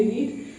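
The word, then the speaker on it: read: की first form होगी रीड second form होगी रेड स्पेलिंग सेम वही होती है लेकिन बोलने थोड़ तरीका हो जाता है रेट फिर थर्ड फम रीड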